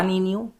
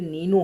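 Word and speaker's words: Niño: और यहाँ पे एल नीनो है या एल नीनियो, जिसको एक्चुअल में इसका प्रोनाउंसिएशन नीनियो होता है, क्योंकि यहाँ पे ऊपर देखिए एक ऐसे लगा हुआ है मार्क।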